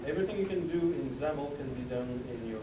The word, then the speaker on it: XAML: It's pronounced XAML.